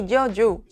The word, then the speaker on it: yo: In Spanish, ella and Y share the same sound. Ya, ye, ji, yo, you.